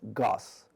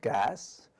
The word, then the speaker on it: Gus: name, my new name, Gus. I didn't want other students laughing or making fun of my name. I didn't want to mistakenly tell people that my name was Gas or Goose.